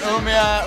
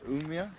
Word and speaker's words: Umeå: So in Umea right now, she's having a few bevvies, celebrating Sophie's finished her thesis.